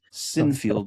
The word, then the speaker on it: Sinfield: And a fascinating character, Peter Sinfield, Sinfield, and he's Sinfield is how you pronounce it.